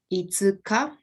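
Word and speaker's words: 五日: so fifth comes at the end this is pronounced itsuka and august comes at the front it's pronounced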